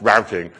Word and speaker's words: routing: in from NBC and yes I do pronounce it rooting and not routing okay so you can giggle